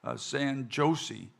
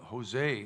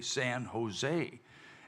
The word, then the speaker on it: San Jose: uh this town called San josi and he goes oh Ma'am he said that's that's pronounced Jose he said in Spanish J sounds like H so it's not Josie it's it's Jose San Jose and uh he said